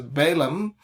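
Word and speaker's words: Balaam: the son of beor English in English we pronounce it as balam uh but in Hebrew bam Ben beor bam Ben Bor so uh from where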